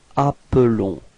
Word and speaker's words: appelons: Okay, so you can notice that the pronunciation is a bit different for the verb. It's appelons. Okay, because there is only one L there.